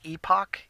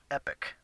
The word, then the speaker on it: Epoch: the game that's good I actually pronounced it wrong it's pronounced epoch EP OCH but for some reason I was pronouncing an epic so I thought a